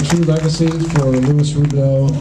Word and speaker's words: Robidoux: True Legacy for Lis rubido I'm saying it right rubido some people say rubex you know living her all your life they say rubex I'm always correcting that I know it's rubu um your your family has